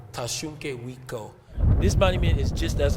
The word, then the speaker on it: Tashunke Witko: So in our language, we say Tashunke Witko. Tashunke Wiko.